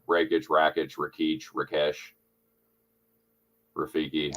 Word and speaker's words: Rakić: is how do you pronounce racket's last name raikage rakit Rak Rakesh Rafiki how do how do you pronounce that alexand rockish Ro there you go there you have it